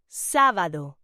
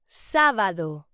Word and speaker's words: sábado: Saturday is pronounced sábado. Say it with me. Sábado.